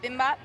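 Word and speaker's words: bibimbap: music dance and food so it's called bimbap that's how you say it i got the fried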